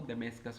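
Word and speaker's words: Damascus: दमिश्क, और कैपिटल को इंग्लिश में प्रोनाउंसिएशन करें इसको तो दमेस्कस हो जाएगा।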